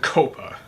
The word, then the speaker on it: COPPA: by December 9th called Coppa now some people pronounce it Coppa but I pronounce it Coppa because none of us will be able to cope with this if it passes I believe it stands